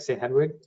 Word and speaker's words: St. Hedwig: Hedwig, did I pronounce that right? St. Hedwig?